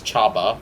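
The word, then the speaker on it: Csaba: That's how you actually pronounce that armoured car, by the way. You pronounce it as Chaba, from what I've seen.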